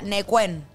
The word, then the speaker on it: Neuquén: Imagínatelo como N-E-U-K-E-N. O sea, sería Neuquén.